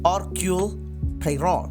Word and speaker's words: Hercule Poirot: detektif asal Belgia bernama hercule poirot dan kalau dari bahasa Perancis kita bacanya org high road yang sedang berlibur di